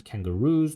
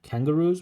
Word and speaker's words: kangaroos: Pronunciation is kangaroos, not kangaroos.